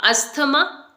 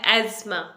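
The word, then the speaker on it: asthma: अस्थमा, एस्थमा। ना तो इसे आपने एस्थमा बोलना है ना अस्थमा बोलना है, इसकी जो एग्जैक्ट प्रोनाउंसिएशन है वो है एज़्मा, एज़्मा।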